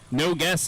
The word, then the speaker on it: Nogus: gary schmidt 261 chris grewan 337 levi nogus no guess actually is how it's pronounced 338 and a scratch